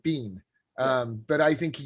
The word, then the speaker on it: Biehn: think it was michael bien but you know it's just a short bean um but i think